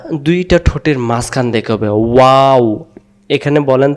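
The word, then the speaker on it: واو: বলি ওয়াও অক্ষরটা দুইটা ঠোঁটের মাঝখান থেকে হবে ওয়াও এখানে বলেন তো ওয়াও ওয়া অক্ষর বলতে কোন জিহ্বা লাগে না দুই ঠোঁট থেকে উচ্চারণ হয় গলা থেকেও না ওয়াও ওয়াও বলার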